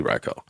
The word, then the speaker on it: Raikou: I know on the show I think they say his name one time and it's Raikou. But in you know actual Japanese I think it's pronounced Raiko. So what do you guys call him? Cuz I just got a new Bengal kitten and I named him Raiko and I've been calling him Raiko cuz that's technically how it's pronounced.